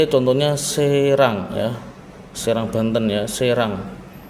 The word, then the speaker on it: Serang: Yang E contohnya Serang ya, Serang Banten ya, Serang. Maka penulisannya sin menggunakan ya, ro, alif, Serang. Jadi ya sebelumnya berharakat alif ya, berharakat fathah ya, bukan kasroh tapi fathah, serang bacanya.